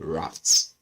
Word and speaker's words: RAFT: It's pronounced Rafts. Rafts in my own pronunciation, anyways.